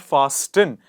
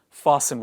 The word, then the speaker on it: fasten: fasten the seat belts it's not fast in it is fastened what is it fasten